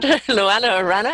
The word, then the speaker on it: Luannah Arana: Am I pronouncing it right? Luannah Arana.